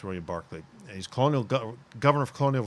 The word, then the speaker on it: Berkeley: barkley the american well the american pronunciation now is berkeley but back then it was the the the british pronunciation was used which was uh uh barclays william barclay he's colonial governor of